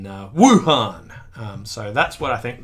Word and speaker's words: Wuhan: first played and that the pronunciation that we prefer is one really emphasizing the Wu in Wuhan so that's what I